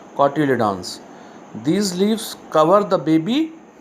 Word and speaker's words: cotyledons: The exact pronunciation is cotyledons.